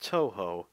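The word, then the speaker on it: Touhou: I'm I like playing Toho games Toho games oh I've said Toho for so long that every time I it's pronounced too the U on both of the things are silent and it's one of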